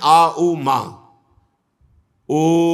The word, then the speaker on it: ओम: हैं सब में प्रणो यही इसके उच्चारण में आ उ मा ओम विदुर जी ये परम